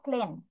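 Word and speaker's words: clean: এটা এরকম একটা word, C এল ই এ এন, ক্লিন, পরিষ্কার। পরিষ্কারের বাংলা বানান কিন্তু একটু কঠিন আছে, কেন?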